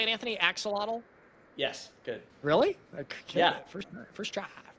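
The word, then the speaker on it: axolotl: Axelottle.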